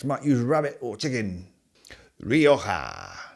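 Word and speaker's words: Rioja: Roija Some people pronounce it Ree-oh-ja, which is also fine.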